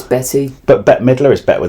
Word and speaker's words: Bette: book by Betty Davis we have Betty right Betty it's spelled bet yeah with an e but it's Betty but Bette Midler is